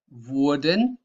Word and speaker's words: wurden: And keep an eye on the pronunciation difference between wurde and würden. That's the most important thing here. Wurden, würden. Please train that.